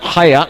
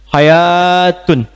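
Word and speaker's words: حياة: Menariknya kalimat hayat. Hayat itu pakai alif. Hayatun. Sesuatu yang pakai alif kalau dari segi pengucapan itu menunjukkan kalimat yang dibaca mengalami pemanjangan bacaan.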